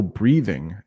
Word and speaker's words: breathing: Breathing, there's a little TH in there. Breathing, breeding. Very soft D.